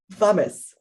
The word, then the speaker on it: Wammes: the interview i learned that i have to pronounce his name as vames yes yes so i'll try to remember that